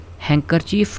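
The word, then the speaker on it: handkerchief: है कि यूज ए हैंकर चीफ to wipe knows ठीक है हैंकर चीफ डी साइलेंट है हैंड करर चीफ हैकर चफ कहते हैं रुमाल को यूज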